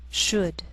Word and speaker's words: should: Sometimes L can be silent, so you have to be careful.